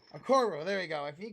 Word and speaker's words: Okoro: If Okorie, wait, no, how you say his name? Okoro. Okoro, there you go.